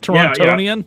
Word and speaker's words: Torontonian: toronto guy you're a torontonian or some ridiculous nonsense i believe that's it isn't it torontonian yeah really it's about the only time you pronounce the t and when that's second